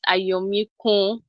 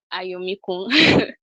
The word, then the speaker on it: Ayomikun: Now, for the record, my name is pronounced Ayomikun. Ayomikun. That's the pronunciation.